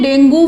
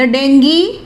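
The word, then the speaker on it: dengue: शहर में डेंगू फैल रहा है। द डेंगी इज, इसकी प्रोनाउंसिएशन डेंगी है, वैसे हम आम इसको डेंगू बोल देते हैं।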